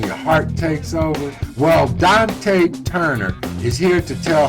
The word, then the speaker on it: Donte: Well, Donte Turner is here to tell her story on Where Were You? Well, hello. How are you doing, Donte Turner?